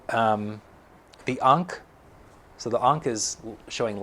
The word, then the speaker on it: ankh: Ankh. Unk with an H.